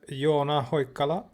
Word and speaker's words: Joona Hoikkala: I think so with us today we have you on ahoy color that's how you pronounce his name in Finnish the creator of